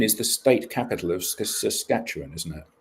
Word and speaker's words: Saskatchewan: Saskatoon is the state capital of Saskatchewan, isn't it? Saskatchewan.